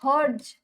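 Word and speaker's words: hertz: होची पूरा ना हो बेटा हज एच ई आर टी जेड टी टा साइलेंट रहबो हज हो यार संकेत सॉरी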